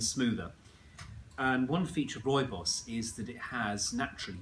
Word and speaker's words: rooibos: So this is rooibos or red bush or bush tea or red bush tea. People pronounce rooibos lots of different ways, but that's how I say it.